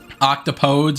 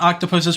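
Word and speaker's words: octopodes: Octopose is correct for the original Greek root. I did not know that kind of Thank you for the trivia. Excellent. I I thought octopuses was technically the correct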